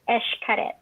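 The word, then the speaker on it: Xcaret: And so even though it's spelled X-C-A-R-E-T, like how would you think that was said, right? It's actually it's Esh. It's Esh Karet.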